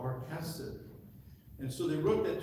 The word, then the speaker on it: chesed: And the word chesed, a lot of people pronounce it hesed, but it's actually chesed.